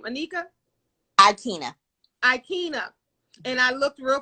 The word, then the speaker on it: Aikyna: Anika, and I want to, how do you say your first name? Anika? Aikyna.